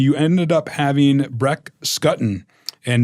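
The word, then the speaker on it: Schutten: Table um and you ended up having bre scotton and not shuton scotton is what I've learned how to pronounce it he won the you know that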